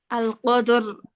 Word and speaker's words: القدر: আপু রটা উচ্চারণ করতে কি একটু গড়গড় শব্দ হবে? হ্যাঁ হ্যাঁ, একটু এরকম শব্দ হবে। হ্যাঁ, আল ভাইব্রেট হবে কদর। হ্যাঁ, বুঝায় দেন, র- আবার বুঝায় দেন। আল কদর।